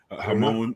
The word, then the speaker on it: Ramon: I got Ramon, Hamon. They don't pronounce R's in Brazil, right? Hamon and I think his actually is Ramon. Yeah, they don't. Hamon would be with a J.